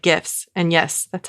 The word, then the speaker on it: GIF: of them are still photos they're basically like gifts and yes that's how you pronounce it gif I'm a gift person as